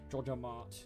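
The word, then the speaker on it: JojaMart: it's jojo martbro dodger jojo mart that's how you say it guys sneaky peek i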